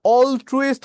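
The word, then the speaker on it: altruist: জাতীয় কথাটা বলা হয় তাহলে অল ট্রুইস্ট কথাটা উচ্চারণটা কার মত হয়েছে অল ট্রু তাই না অল ট্রু আল ট্রুইস্টের উচ্চারণ অল ট্রু এর মত হয়েছে তাইতো অল ট্রু মানে কি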